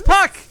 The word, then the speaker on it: puCK: It's puCK, guys. It's puCK. Entirely the wrong sound. Like I can do the sound either, but that's still no. Like I feel like okay, if you can roll your R right, like but like do it like a low, like in the background and combine the two. I don't think the key is rolling your R's, but we'll have to ask.